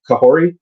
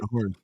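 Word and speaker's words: Kahhori: And the episode with the new introductory character, Kahori, did I say it right? Kahori.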